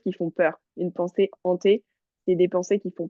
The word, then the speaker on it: hantées: Le D de regard ne se prononce pas. D'accord? oui. Ok. Où est-ce que tu as eu des difficultés? Ante, c'est Hanté, pas, oui, c'est des pensées hantées.